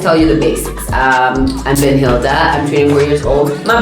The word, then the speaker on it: Benhilda: What do you mean the H is silent? How is it? In the I? And the I, it's silent. So you're creating names in your head now. You're switching it. Because it's Ben and then Hilda.